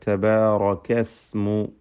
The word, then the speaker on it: اسم: ഇസ്മു സീനിൻ്റെ ഉച്ചാരണം പ്രത്യേകം ശ്രദ്ധിക്കുക. തബാറകസ്മു, സീന് സാക്കിനാണ്, ചലിക്കാതെ ശബ്ദം ഹറക്കത്ത് പോലെ ആവാതെ ശ്രദ്ധിക്കുക.